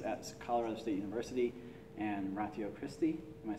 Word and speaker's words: Ratio Christi: He works with students at Colorado State University and Ratio Christi. Am I saying that right? Yeah, Ratio Christi is how we should pronounce it.